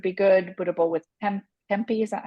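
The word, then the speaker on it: tempeh: um which would be good budall with temp tempy is that how you say it te oh Tempe yes yes Tempe um so yes on cookie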